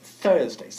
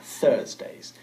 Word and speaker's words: Thursdays: Thursdays. Sacando la lengua. Thursdays.